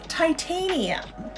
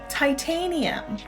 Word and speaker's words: titanium: So the way we say this is titanium. Titanium. Hi, Mayumi. How are you? Yeah, so we say titanium. So I heard Japanese say like titanium or something like that.